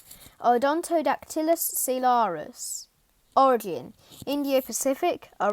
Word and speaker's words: Odontodactylus: the peacock mantis shrimp scientific name odontodactylus solaris pronunciation aldontodactylus solaris origin india pacific a range spanning from